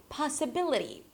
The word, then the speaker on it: possibility: For example, in the word possible, the stress falls on the first syllable, possible. But here's the thing. Once I add the suffix, ri, it changes the stress. The placement is changed. So it turns into possibility.